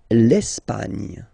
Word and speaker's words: l'Espagne: L'Espagne. L'Espagne. Okay, don't insist on the final E because basically it's not pronounced.